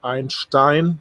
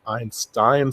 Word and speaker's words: Einstein: view keep in mind it is Einstein that's how the men call himself not Einstein so at least pronounce it correctly uh if you put so much money in there it's just my five cents and I can say Einstein with authority being a German native speaker as you can hear